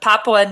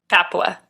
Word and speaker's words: Papua: So, in the rugged highlands of Papua New Guinea. That's wrong. Papua.